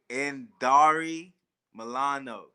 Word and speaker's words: Indari Milano: It's spelled weird, but it's Indari Milano.